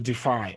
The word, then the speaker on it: defy: If it's a verb, okay, the stress is placed on the second syllable. Defy. This is a verb, to defy, right?